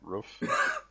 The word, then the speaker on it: roof: Roof? Roof, yes. Like cook, but with an R and an F.